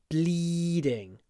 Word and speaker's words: bleeding: still bleeding perhaps strangely you have to smile when you say bleeding bleed there's a lot of Y because we have a voiced du sound bleeding bleeding look bleed